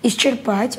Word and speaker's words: исчерпать: Исчерпать, ударение на «а».